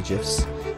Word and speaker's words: GIF: Everybody loves GIF. Pronounced correctly, though. I can't be saying GIF like some kind of peanut butter person.